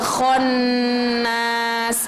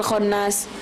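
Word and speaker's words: الخناس: huruf pakai oke konnas nah disitu kan non nya bertasydid jadi kita nggak usah terbetuk gak usah terburu-buru Mi syarril waswasil khannas itu harus ditahan dulu itu hukum bacaannya ghunnah punah itu jadi harus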